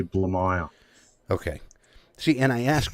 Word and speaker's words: Blamire: your last name the the easiest way to pronounce it is actually blue mile okay see and I